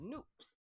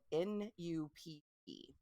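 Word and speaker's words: nupp: bobbles they are called noobs they're spelled n-u-p-e um but it looks like nup it rhymes with Loop according to the the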